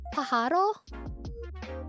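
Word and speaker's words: pájaro: Pajaro? Wait, let me how to pronounce pajaro?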